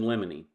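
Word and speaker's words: limine: trial are motions in Lemony now lemony is spelled l-i-m-i-n-e not l-e-m-o-n-y and the motion in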